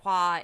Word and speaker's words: Hua: mulan's family name and hua is the correct mandarin pronunciation and it means flower